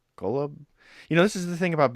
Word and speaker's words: Golub: Do you know how to pronounce it? Golub. Golub.